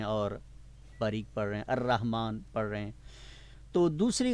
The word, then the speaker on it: الرحمن: الرحمن۔ الرحمن۔ عام لوگوں کے نام بھی ہیں عبد الرحمن، ٹھیک ہے، تو جو عربی کا انداز ہے، تلفظ ہے، وہ الرحمن ہے، رحمان نہیں ہے، کیا بولا؟